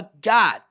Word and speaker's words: God: Vocês percebem que eu coloquei aqui um O, God, só que ele fala mais abertamente, ele fala God, God.